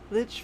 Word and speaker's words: Lich: Lich rhymes with Twitch.